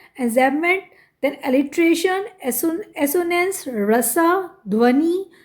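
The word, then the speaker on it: enjambment: then स्टेंस एन जमेंट ए विच बी बिल्कुल silent है एंजमेंट then alliteration एसनेस रसा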